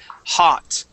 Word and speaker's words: hot: okay um the uh the o sound as an A okay hot lot okay uh a lot of times when uh when uh uh English uh people who are learning English Okay are reading these words they like to say ho not okay this is an a sound okay an O makes